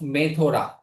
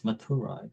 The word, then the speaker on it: Mathura: He says, I am aware of a city by the name of Methora.